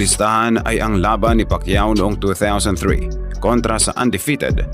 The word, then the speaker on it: Pacquiao: Ultimo, ang mga announcer ay hindi pa mabigkas ng tama ang dakilang pangalan niya. Pacquiao. Say Pacquiao.